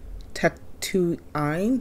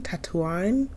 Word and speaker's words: Tatooine: his home planet of Tatooine sorry I'm sorry how do you say that Tatooine Tech Two Ein Tatooine Tatooine this location is called Tatooine Tatooine easy Once you know Tatooine and now videos